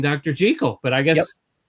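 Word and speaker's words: Jekyll: Jackekal is not the right pronunciation. It's Dr. Jel.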